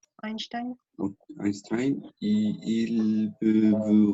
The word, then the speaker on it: Einstein: Einstein, c'est prononcé. Einstein.